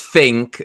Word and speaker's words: Fink: Ours is Fink. Rhymes with think.